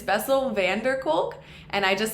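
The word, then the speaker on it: van der Kolk: book the body keeps the score by Bessel van cul I actually said it wrong in the first episode it's vessel Vander culk and I just said van cul it's Vander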